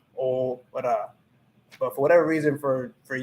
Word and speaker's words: ahora: ah and then ora, because la h is muda, it's silenciosa, it's silent. So if you know that the h is silent, you just cut that part out, and then you just say, or then you just pronounce each letter in that word. So that's just ora.